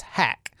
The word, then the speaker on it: Haq: Umair Haq, I prefer to pronounce his last name as Hack.